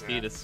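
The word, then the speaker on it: Tidus: And it's like, well, now you play Dissidia, and they'll just tell you it's Titus, and I'm like, oh, well, I'm an idiot, I guess. Do they pronounce Sabin's name?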